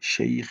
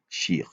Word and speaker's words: شيخ: Il n'a pas dit, j'avais repris tout à l'heure en disant, on dit shaykh et non shir.